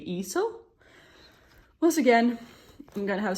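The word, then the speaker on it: Leeseo: So first someone said it was with the L, but then everyone else came and said that Korean pronunciation is without the L, so Iso? Not Liso, so it should be Iso.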